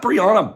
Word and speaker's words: Brianna: Was that Brianna? Bella says she loved it. You guys, the correct way to pronounce her name, I know it for sure, is Brianna.